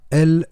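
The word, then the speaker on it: אל: On prononce El en hébreu.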